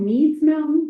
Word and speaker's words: Meds Mountain: And it's called Apparently, it's called Me's Mountain, but it's spelled meds.